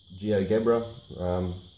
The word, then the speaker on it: GeoGebra: I've checked it on Jia Jia Jia Burtt geogebra that's the pronunciation of it and it is perfect so